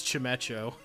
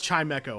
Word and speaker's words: Chimecho: use Chimecho Chimecho ver rather embarrassingly I used to pronounce this Chum echo I'd never never once did the double bell pun register in my head but it's it's Chimecho I believe feel free to correct